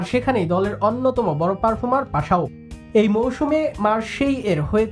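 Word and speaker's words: Paixão: ইংরেজিদের নামের বানান অনেকটা প্যাকচাও। তবে বাংলায় তাকে উচ্চারণ করা হয় পাসাও।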